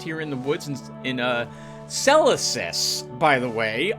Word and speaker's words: Celesis: in the woods in Celesis, by the way. I've been mispronouncing this place. I thought it was Celsius. It's Celesis.